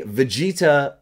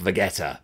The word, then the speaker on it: Vegeta: are giving us a Vegeta older style battle clothes at least I know it's pronounced Vegeta and not vetta like I originally called him forget forget about it